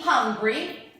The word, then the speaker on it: hungry: Before we said that to be hungry means avere fame. I write it again. To be hungry. Remember the pronunciation of this word. H has to be heard, has to be pronounced.